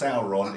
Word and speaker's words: Sauron: Unfortunately, he took his name from the Lord of the Rings character, so it is pronounced Sauron, even though he's a dinosaur.